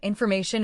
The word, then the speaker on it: information: Second phrase, the whole model is predicated on information asymmetry. Stress, predicated four syllables. Information asymmetry, stress the third syllable in both words.